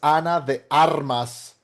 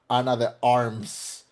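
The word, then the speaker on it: Ana de Armas: Um uh her name is Anna the Armas, not Anna the Arms.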